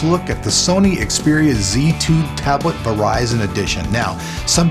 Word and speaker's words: Z2: at the Sony xeria Z2 tablet Verizon Edition now some people out there will call it the zed2 but here in America we pronounce our Z's with the Z so with that said